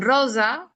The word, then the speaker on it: rosa: Encontramos el sonido S, claro que sí, mientras que en rosa encontramos el sonido Z, ¿no?